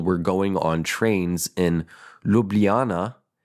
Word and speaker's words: Ljubljana: J is Y. Ljubljana.